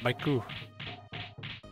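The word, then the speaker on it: マイク: myku yeah Mike yeah I was gonna say it's pronounced maiku that guy is dead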